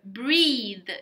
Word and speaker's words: breathe: very good fatima your breath and again guys uh pronunciation tip we have breath my breath and then we have the verb breathe you need to put an e breathe right so take a